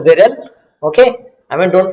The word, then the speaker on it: Viral: smack okay yes i mean the name is pronounced viril okay i mean don't pronounce it viral if you if it was if it was